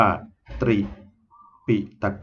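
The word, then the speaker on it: ตรีปิฎก: เนี่ย เขา เขียน ว่า ตรี ปิฏก ก็ คือ ตอเต่า รอ เรือ สระ อิ โปห์ ปลา สระ อิ ต่อ ปฏัก หรือ ดอชฎา นะ ดอชฎา ใน ไป รอ ชฎา นะ ครับ แล้ว ก็ คอ ก ไก่ อ่าน ว่า ตรี ปิฏก ค่ะ ซึ่ง ต่อ มา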